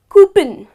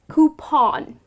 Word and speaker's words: coupon: another word which is coupon now many people pronounce it as cupen that's incorrect it's not cooping but it is coupon so it goes like this okay just the